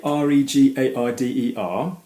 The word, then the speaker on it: regarder: But when you have the R-E at the beginning of a word like this, it's going to be regarder, regarde, okay?